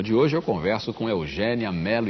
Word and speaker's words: Eugénia: deve ter percebido que eu fiz esforço aqui para dizer Eugênia e não Eugênia e não Eugênia o seu nome se escreve com acento agudo Agudo todas as pessoas